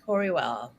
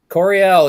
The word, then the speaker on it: Coryell: your relationship with this Larry coreywell Coryell yes so sorry because I mispronounced it that's fine so Larry